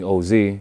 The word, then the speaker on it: Ohzhe: So instead of spelling it Ohzy, I spelled it Ohzhe to give it a nice little breakdown on how to say the name.